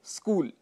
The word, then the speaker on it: स्कूल: उदाहरण के लिए जैसे स्कूल। स्कूल के लिए हम स्कूल या स्कूल ऐसा कह देते हैं, जो कि गलत है। शुद्ध उच्चारण स्कूल होता है, ये आप सब जानते हैं।